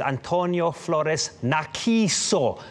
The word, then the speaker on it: Antonio Flores Narciso: My mega crush Monday today is Antonio Flores Narciso. That's how you say it. It's the Spanish pronunciation.